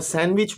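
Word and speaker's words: sandwich: एज में D silent है और सैंडविच में डी साइलेंट है.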